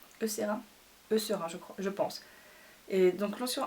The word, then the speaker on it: Eucerin: Et celui-là il est de la marque Eucerin, je crois qu'on prononce. Eucerin, je pense.